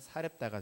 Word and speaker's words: 사렙다: 사렙다의 한 과부에게 뿐이었으며, 여기 사렙다는 사르밧을 헬라어로 발음하면 사렙다가 됩니다.